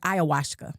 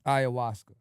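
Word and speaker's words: ayahuasca: Did I say it right first? It's like Ayawashka. Ayawaska.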